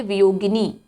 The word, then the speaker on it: वियोगिनी: वह कहलाती है वियोगिनी। स्पेलिंग पे ध्यान देंगे, वियोगिनी है, ठीक है, वियोगिनी है, गा में छोटी की मात्रा है, गनी नहीं है, गिनी है, वियोगिनी।